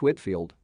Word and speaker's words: Whitefield: 79 George Whitefield, pronounced Whitfield.